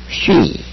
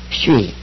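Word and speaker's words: σύ: 고가 아니라 에고 그죠 12번 쉬 이것을 수라고 읽는 사람이 있어요 안 됩니다 쉬 S 하고 위 바람이니 쉬죠 13번 호스 호스 14번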